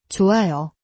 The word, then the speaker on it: 좋아요: Batchim weakens and almost disappears before a vowel. So, 좋아요, sounds soft like. 좋아요.